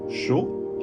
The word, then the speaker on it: chaud: In some cases in French, the consonants are not pronounced in the end of the word. For example, in the words froid, cold, chaud, hot, the final D isn't pronounced when in French.